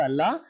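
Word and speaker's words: I'll: ಅಲ್ ಐ ವಿಲ್ ಇದು short form ಆಗಿರುತ್ತೆ, ಐಲ್ ಅಂತ ಅಲ್ಲ, ಅಲ್ ಅಂತ ಉಚ್ಚಾರಣೆ ಮಾಡ್ಬೇಕು.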